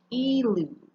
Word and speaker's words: elude: and only one l e lewd so it's pronounced e like its first letter e and it means to